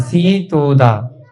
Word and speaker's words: सीतोदा: बेटा सी सा पे बड़ी की मात्रा आएगी, थोड़ा उच्चारण पे ध्यान दिया करो। हाँ सीतोदा, सीतोदा नदी।